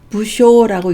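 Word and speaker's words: 無精: 게을러서 하기 귀찮아하거나 싫어함을 나타낼 때는 부쇼라고 읽습니다. 이럴 때만 쇼라고 하죠. 부쇼라고 읽고요. 여기 보면은 내부쇼라고 하는데 다음에 예문에도 나오지만 외출하기 귀찮아하는 거를 내부쇼라고 합니다. 이럴 때 쇼라고 읽어서 부쇼라고 읽습니다.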